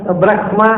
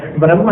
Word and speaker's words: ಬ್ರಹ್ಮ: 3 ಥರದ ಉಚ್ಚಾರ ಇದೆ ಸಂಸ್ಕೃತದಲ್ಲಿ ಬ್ರಹ್ಮ ಶಬ್ದಕ್ಕೆ. ಲೋಕದಲ್ಲಿ ಮತ್ತು ಋಗ್ವೇದದಲ್ಲಿ ಅದಕ್ಕೆ ಉಚ್ಚಾರ ಬ್ರಹ್ಮ ಅಂತ. ಯಜುರ್ವೇದದಲ್ಲಿ ಹಾಕ್ತಾ ಇಲ್ಲ, ಇಂಗ್ಲಿಷ್ನ ಹಾಗೆ ಬ್ರಹ್ಮ ಅಷ್ಟೇ, ಬ್ರಹ್ಮ ಹೇಳಲಿಕ್ಕಿಲ್ಲ. ಯಜುರ್ವೇದದಲ್ಲಿ ಸ್ವಲ್ಪ ಅಂದರೆ ಹಕಾರ ಇದೆ ಅಂತ ನಿಮಗೆ ಅನ್ನಿಸ್ಬೇಕು, ಗಟ್ಟಿ ಕೇಳಬಾರ್ದು.